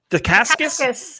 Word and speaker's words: Dacascos: Dacascos. Dacascos?